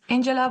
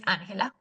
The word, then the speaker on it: Angela: My name is Angela, but I'm not from here. I'm from Colombia, so I speak Spanish and the real pronunciation of my name is Anela.